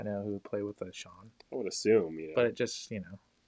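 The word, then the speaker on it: Shon: Yeah, Shawn plays with a Shawn. What? Shawn plays with a Shawn cue. A Shawn cue? Yeah, it's spelled S-H-O-N.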